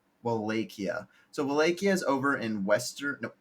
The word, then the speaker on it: Wallachia: Tell me one more time how to pronounce the nation's name. Wallachia. Wallachia.